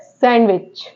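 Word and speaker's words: sandwich: है ओके ऐसे ही वर्ड्स है सैंडविच अब सैंडविच को सैंडविच नहीं पढ़ते हैं सैंडविच पढ़ते हैं य य पर क्या है साइलेंट लेटर डी यहां पर साइलेंट लेटर होता है ओके ऐसे ही अगला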